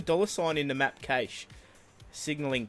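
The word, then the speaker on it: Cache: the map Cas signaling cash oh no there they're taking the Mickey out of us because we pronounce it Cas no it's definitely Cas um that is the only way to say it but Inferno for me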